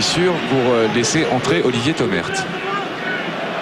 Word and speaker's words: Thomert: Thomer, hein, il paraît qu'il ne faut pas prononcer le T. Eh bien Thomert. Oui, j'ai reçu du courrier Comme ça. de la famille, du reste, que je remercie. Et il faut dire Thomer. Le thé est muet, comme dirait l'autre.